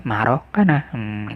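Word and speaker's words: maroccana: Linaria maroc double C marocana ya, nulisnya marocana ya, bacanya marocana dia.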